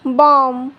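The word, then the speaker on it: bomb: B silent तब होता है जब बी से पहले एम आता है तो बी साइलेंट होता है।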